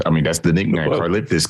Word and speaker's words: Karlaftis: Karlaftis. Can you lift this?